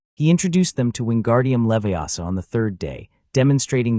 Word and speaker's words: Leviosa: "It's Wingardium Leviosa, not Leviosa.